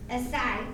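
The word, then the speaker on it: açaí: So, I usually get a venti strawberry, acai.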